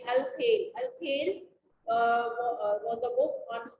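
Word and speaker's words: الخيل: of human body, like Al-Khail. Al-Khail was a book on horse. Al-Ibil. Please, as I am pronouncing it, please learn it so that you will pronounce it in the same way. Al-Khail, Kheil.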